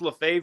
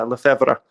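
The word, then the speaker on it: Lefebvre: uh le febre but uh i say it's la fave just for easy sake because le febre not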